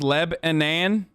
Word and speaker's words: Lebanon: near lebanon indiana and it's pronounced leb anan not non but nan lebanon welcome to lebanon hey